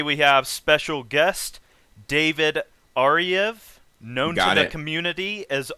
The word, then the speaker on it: Ariew: up poison so yeah my name like you said is david ariev which is a weird one in itself because it's spelled a-r-i-e-w but the w sounds like a v and yeah i'm a